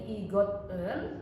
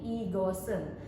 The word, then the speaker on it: 이것은: Nah, di sini sudah dipakaikan en, namun dibacanya bukan menjadi igot en, namun menjadi igosen.